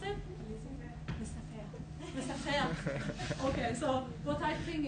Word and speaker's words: laissez-faire: So how you pronounce it? Laissez-faire.